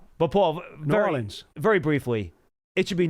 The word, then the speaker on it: New Orleans: They don't even say it the way it's spelled. They kind of run it together. But Paul, New Orleans.